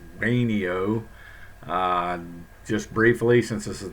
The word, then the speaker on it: Wayneo: neo diet and yes that's the way it's pronounced a neo just briefly since this is the first one